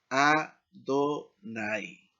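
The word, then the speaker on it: אֲדֹנָי: El queré de esto o cómo debe leerse esto es este que dice aquí Adonai, que significa Señor.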